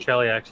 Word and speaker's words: Cheliax: maybe glowerness to even the small villages in Cheliax, Cheliax, I gotta say it right. Cheliax, yeah, has an A in it.